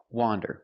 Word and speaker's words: wander: streets of the city wander with the open Sound ah wander now let's talk about